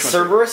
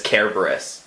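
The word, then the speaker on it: Cerberus: want to see Cerebus which one is which servers is the pronunciation that a lot of people use like the common English pronunciation the correct pronunciation is Kara Burris ok because lion always has hard seeds but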